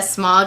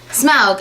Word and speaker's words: Smaug: comments that were like saying it wrong and I know I am but I read it wrong when I was younger so I read it a smog and then now it's smug I will pronounce it right this time I do promise but if I slip